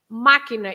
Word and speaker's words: máquina: So, but if you have an accent, like in máquina, you say machine, máquina. You don't say máquina, right? It shouldn't be máquina. You have the accent on the I, on the A, so it's ma. Máquina. So you stress that part.